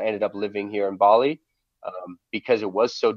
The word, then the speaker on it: Bali: 15 years right and it rhymes with Olie Bali rhymes with olly you know B OE